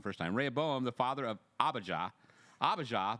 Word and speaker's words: Rehoboam: had been Uriah's wife solomon the father of Rehoboam Rehoboam I said it wrong first time Raya Boehm the father of Abijah Abijah the father of